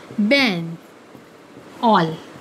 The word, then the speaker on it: banal: बेनल। Spelling यहाँ पे क्या है? BANAL, बेनल। लेकिन इसकी प्रोनाउंसिएशन क्या बन रही है? बैन ऑल।